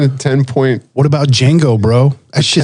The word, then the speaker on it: Django: he's james throwing a ten point what about django bro that starts with a d you don't you don't pronounce it ooh django yeah that's a good point or chevrolet there's